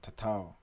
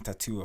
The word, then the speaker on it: Tatau: I hate pronouncing shit wrong. Tatau. I was saying tattoo, fam.